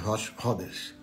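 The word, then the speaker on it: ראש חודש: Então, hoje, 1º de Sivan, hoje e amanhã são dias extremamente especiais, porque é Rosh Chodesh, Rosh Chodesh, a pronúncia é Rosh Chodesh, é o primeiro dia do mês.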